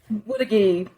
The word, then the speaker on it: Woodagee: But the Blues live in, and help me pronounce it, Woodleave? Is that? Woodagee.